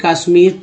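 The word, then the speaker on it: Kashmir: कैसे जम्मू पढ़ेंगे, कैसे कश्मीर पढ़ेंगे, ठीक है। अब अंग्रेजी का वर्ड है जम्मू, काश है ना, कैश्मीर, ऐसे पढ़ेंगे तो गलती हो जाएगा, शुद्ध उच्चारण नहीं होगा, क्योंकि इंग्लिश, लेकिन अंग्रेजी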